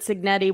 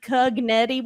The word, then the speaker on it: Cignetti: And he affectionately called him Cugnetti one week, and it stuck.